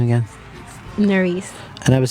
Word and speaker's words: Nerys: people call you Noris. In Spanish, it's different. It's Nuris. Noris? Nuris.